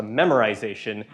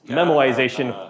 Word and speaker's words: memoization: is called memoization and your phones autocorrect will always always want to correct this to memorization it's memorization without the are when I first learned